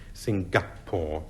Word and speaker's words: Singapore: his name in Singapore which some people pronounce Singapore with a hard G but I don't it is one of